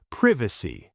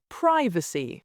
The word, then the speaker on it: privacy: British, privacy, with a short I. American, privacy, with a long I.